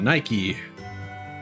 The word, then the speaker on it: Nike: That's how it's pronounced, right? Yeah, Nike.